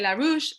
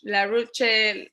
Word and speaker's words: La Rudche: just click there because some people say LaRouche, LaRuche, La. So they say any kind of things is fine. I don't mind. You pronounce it however you want, but so reading down is gonna be the right way to pronounce it.